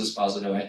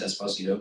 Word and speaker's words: Esposito: actor's name, but they it also is pronounced Esposto. Everyone thinks it's Esposito, but it's Espos.